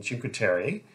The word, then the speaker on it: Cinque Terre: Yeah, so, I mean, one of the reasons that we've got a car is to do some hiking in Cinque Terre.